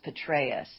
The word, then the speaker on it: Petraeus: it's well Benghazi and the general is Petraeus that's how you say it so it's General Petraeus uh well there's a